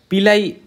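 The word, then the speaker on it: pili: আমরা বলতেছি বাট এটা এটার আসলে উচ্চারণ হবে পিলি কি হবে পিলি আমি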